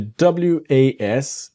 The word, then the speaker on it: was: And the W-A-S, it's like a Z, the was.